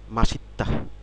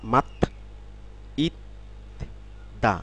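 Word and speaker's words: 맛있다: টু বি লট অর্থ অনেক প্রচুর এরপরে রয়েছে মাসিত্তা মাসিত্তা অর্থাৎ ডেলিসিয়াস অর্থাৎ সুস্বাদু কোন খাবার খাবারের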